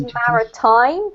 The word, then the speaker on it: maritime: the word biological so often when we have an i in English we pronounce it like that I so we have identities identities y this one's Mari time Maritime um Mari time